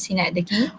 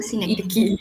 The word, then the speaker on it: synecdoche: this one is pronounced as synecdoche. Oh, synecdoche.